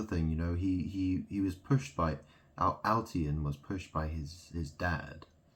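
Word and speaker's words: Altiyan: But his name is it's like code, it's like all Thai anus, Altian. It's spelled A-L-T-I-Y-A-N.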